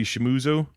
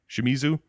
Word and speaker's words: Shimizu: should say his name takashi shimuzu shimizu uh he liked the concept of doing it